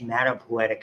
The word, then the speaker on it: hematopoietic: in the bone marrow it's called hemata is pronounced hematopoietic stem cell called hemocytoplast and as it matures